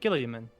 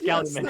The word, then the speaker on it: Galliman: We met a Gilliaman. Killian Gilliam. Killian Galliman. It's Galliman. I said it wrong.